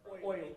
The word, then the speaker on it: Euler: E-U-L-E-R. Oil, it's actually Euler. I should have said Euler.